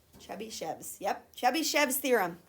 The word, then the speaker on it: Chebyshev's: You want to try to pronounce that? Chebyshev's. Chebyshev's.